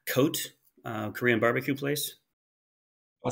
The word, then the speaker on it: Cote: So it's Cote? Yep. I hadn't heard of that one. Cote. Cote is how you spell it.